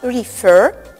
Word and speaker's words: refer: Исключениями в данных случаях будут слова refer и prefer, в которых ударение падает на последний слог.